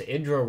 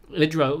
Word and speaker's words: IdrA: Now someone once told me that I pronounced Idra wrong, and I should listen to Tastosis, Tasteless and Artosis on the correct pronunciation.